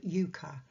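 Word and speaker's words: euchre: as an unsuited Jack in the game of Yuka that's spelled e-u-c-h-r so from a card game of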